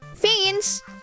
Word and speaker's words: feigns: Fiends rhyme with pains? What, really? So it's feigns.